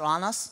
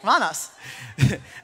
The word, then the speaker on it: Randers: Like Anas, but Randers? Yeah. Exactly. Okay, Randers.